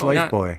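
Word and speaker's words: lifebuoy: about life yeah yeah again I always pronounced it buoy bu it's life boy right because I thought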